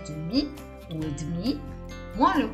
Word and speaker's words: demi: mezza si dice et demi. Si scrive demi e si pronuncia, e sentirete che lo dicono demi, ok? Quindi la E in mezzo praticamente non si sente per niente e demi diventa et demi.